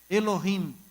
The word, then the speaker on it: Elohim: E no hebraico é interessante, que parece com o inglês nesse aspecto, que você pronuncia e no final a letra tem que ficar Elohim, M. O M está lá.